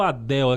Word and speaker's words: Adele: Aí errei a pronúncia do Adele, que é Adele, não é Adele.